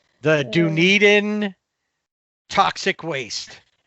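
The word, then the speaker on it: Dunedin: Duneden is how you say Dunen.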